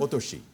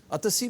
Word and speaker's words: ओतोशी: ओतोशी। अतसी भी बोलते हैं इसको। हाँ, हिंदी में बोलो। हिंदी में अतसी बोलते हैं।